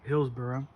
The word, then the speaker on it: Hillsboro: That's how you pronounce it, Hillsboro? Yep, Hillsboro.